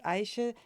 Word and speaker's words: Ayşe: I I pronounced everything correctly. Aisha is correct.